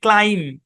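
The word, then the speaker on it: climb: বি শব্দের শেষে এমবি be silent উচ্চারণ কি ক্লাইম ক্লিম না কিন্তু ক্লাইম ক্লাইম্ব উচ্চারণ খুব সম্ভবত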